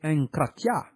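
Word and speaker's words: ἐγκράτεια: Le mot enkrateia, SGD 1466, prononcé enkratia, est dérivé de enkrates, SGD 1468, prononcé enkrates, qui signifie être fort dans une chose ou en maîtrise.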